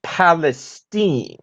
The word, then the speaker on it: Palestine: tonight doing great zeke but actually it's palestine oh well excuse me palestine so we're going with the hoity-toity pronunciation now are we well actually it's a good old texas pronunciation it's been that way for as long as i can remember well i see well